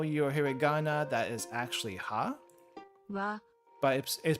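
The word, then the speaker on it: は: if you know you're here that is actually ha but is pronounced W in the in the sentence ha is pronounced wa here so there is a there's a difference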